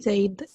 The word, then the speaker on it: said: Said. Said, claro, se escribe say, se escribe S-A-I-D, se pronuncia said.